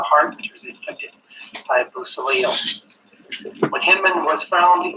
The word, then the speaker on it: Beausoleil: Pistol, knives, and swords were used in the following crimes which the prisoner committed with crime partners Bir Olsia, how do you pronounce that? Beausoleil, Ann Atkins, and Grogan and Davis.